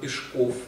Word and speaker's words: Пешков: вмещения максим салате вич пешков правильно ударение на последнем слоге что бойки сам как